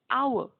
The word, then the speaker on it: hour: consonant H like H-O-U-R, hour. You dare not say it an hour because H is silent here and we sound the word hour starting with the vowel sound of O.